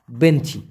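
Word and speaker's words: benci: Malaysian ভাষায় হচ্ছে বেঞ্চি বি ই এন সি আই উচ্চারণটা হবে বেঞ্চি তো বেঞ্চি মানে ঘৃণা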